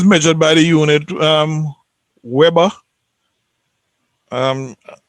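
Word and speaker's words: weber: by the unit um webber um i understand it's the german pronounce the w as v so if if you're a german you'll say vapor um flux densities given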